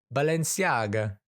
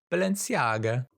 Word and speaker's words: Balenciaga: Aga how do I pronounce Balenciaga how to pronounce Balenciaga Balenciaga Balenciaga yeah Balenciaga and so they all become very